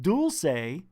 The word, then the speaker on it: Dulce: Someone out there calls it dulce. And some people, most of you, call it dulce. But what is the real pronunciation of this word?